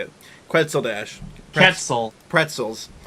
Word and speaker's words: Quetzal: Ketzel. Pretzels. Ketzel.